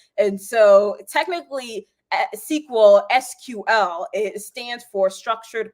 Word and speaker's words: SQL: how to pronounce it so you heard me saying sequel but there seems to be a little bit of like debate on how it should be said and so technically a sql sql it stands for